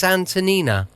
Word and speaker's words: Antonina: And I thought it was going to be Antonio, but it's not. It's Antonyina.